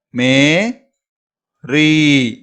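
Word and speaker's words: मेरी: Last ஒன்று பாருங்க, மே ரீ. இந்த எழுத்தை வந்து நீங்க நெடில உச்சரிக்கணும். மேரி, மேரி.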